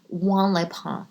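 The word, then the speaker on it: Juan-les-Pins: know like I mean like first of i w Leon that's how you say it it's it's like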